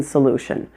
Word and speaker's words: solution: There's one in the O in solution, and there's one in the IO in solution. Both of them are pronounced solution, solution.